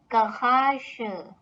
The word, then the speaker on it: Garage: Now this word is written just as in English, but has a mixture of German and French languages pronunciation. So garage, specifically the last part of this noun has the French bit of pronunciation.